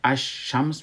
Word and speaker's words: الشمس: میشه، نوشتم میشه، و در الشمس که ما نوشتم میکنیم لامش تلفظ نمیشه اما نوشتم میشه. ما او را الشمس میخوانیم و حرف بعدی که بعد از لام آمده او مشدد میشه، یعنی در حقیقت دتا